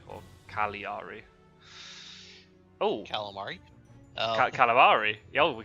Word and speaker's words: Cagliari: I was also told off by Philly, it's not Cagliari, apparently. The G is silent, it's like Cagliari, or Cagliari.